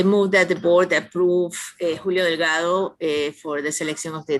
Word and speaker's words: Julio Delgado: Jeremy, did I pronounce correctly, or is there a different way? Nope, you did. You pronounced his name correctly, Julio Delgado. Congratulations to Julio. Probably Julio Delgado, but I suppose that works. Thank you. Yes, my bad, no Spanish accent, English version. I try.